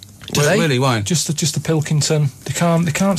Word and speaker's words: Pilkington: why just just the Pilkington they can't they can't say it I don't know what's wrong it's so easy it's spelled as it looks yeah uh man just